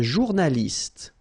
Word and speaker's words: journaliste: Un journaliste. Same thing here. You know, final only gives you the T.